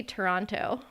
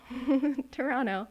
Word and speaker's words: Toronto: I used to say Toronto. Toronto. And I pronounced Vancouver wrong too back in the day.